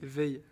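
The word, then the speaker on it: Weil: C'est comme ça que ça se dit Pierre Whale. Wal Pierre Veille. Veille. OK. Tu vois, j'avais pas la prononciation mais c'est pas jamais. Et ben voilà. W E I L.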